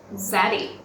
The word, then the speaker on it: zaddy: older male person is zaddy yes azadi is slang for an attractive older male who was also fashionable charming and self-confident although it rhymes with daddy you don't have to